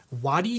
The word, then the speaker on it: Wadi: This is the Path Projects Wadi shirt. I think that's how you say it. It's like W-A-D-I.